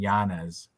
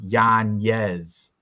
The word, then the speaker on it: Yanez: Twitter but then Joe Rogan still kept saying Giannis during the face-offs but on Twitter he he corrected on Twitter it's pronounced Yan yes all the cappers been saying it right Joe